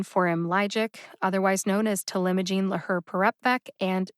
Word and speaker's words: talimogene laherparepvec: all right that ends my discussion of the pronunciation forum logic otherwise known as telemagine laher parepbeck and t vec i'd like to take just